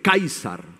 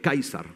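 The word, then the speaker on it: Καῖσαρ: es un título y Cómo se dice César en griego se dice kaisar en griego kaisar Sí kaisar cuando le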